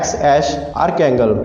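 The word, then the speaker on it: X Æ A-12: Elon Musk इसको pronounce करते हैं XAsh आर्कैंगल।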